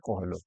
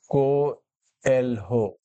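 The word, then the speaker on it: Coelho: आर, क्या नाम है, उच्चारण को ध्यान से पढ़ने की कोशिश करेगा। I.R. कोहेलो, I.R. कोएल्हो।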